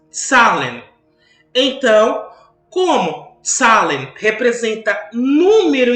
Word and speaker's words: Zahlen: E, em alemão, a palavra número se escreve assim. E nós lemos Zahlen.